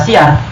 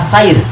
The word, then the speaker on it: syair: oleh ulama tauhid wasyair jangan baca syiar Bacanya adalah syair harokatnya syair ulama yang suka mempelajari